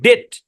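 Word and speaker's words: debt: তাহলে মানে এই শব্দের মধ্যে বিটা সাইলেন্ট। আমি কিন্তু এটা বলি নাই যে সব জায়গায় বিটি থাকলে বি সাইলেন্ট, অল্প কিছু শব্দ, তার মধ্যে এইটা একটা শব্দ আর কি, ডেট। এই শব্দের উচ্চারণ হচ্ছে ডেট।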